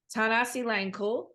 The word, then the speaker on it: Thanasilangkul: And this week I am with my new friend, Zach, and I'm going to say it right, Thanasilangkul.